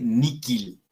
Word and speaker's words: nihil: Después, la H se pronuncia como una K. Entonces, se dice Miki y se dice Nikil.